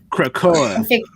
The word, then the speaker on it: Krakoa: Yeah, no, I'm too drunk to pronounce that name. Y'all are gonna have to read it. Krakoa.